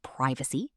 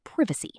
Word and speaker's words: privacy: Another word is privacy. American is privacy. British is privacy. Again, the British version sounds softer and more elegant.